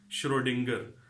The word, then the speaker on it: Schrödinger: first of all learn to say it rightly Schrodinger Schrodinger's where we going and what is the